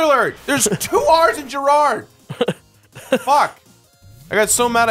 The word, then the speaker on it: Jirard: If they can fucking pronounce my name. I think that's just because people don't pay attention. Jared.